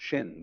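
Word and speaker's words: 心: In Chinese, mind is ing, pronounced shin, the heart mind, the psychic center.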